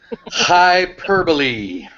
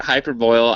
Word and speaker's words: hyperbole: booil uhhuh yeah yeah see how hard that word is to pronunciate hyperbole hyperbole Hy that coming out of a certain convention this week if you if you put hyper boil I'm sure Sean will